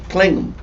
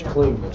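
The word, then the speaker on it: Kligman: Klingham. K-L-I-G, man. Yeah, there's something else I want to get to in It's just a not second. ham, it's man. Man. It's Klingman. Spell it for him.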